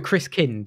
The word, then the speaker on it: Christkind: And so the Christkin, is that how you say it? the Christkin? Christkind, yeah, it means Christ child, but it isn't what you'd think of as a baby Jesus.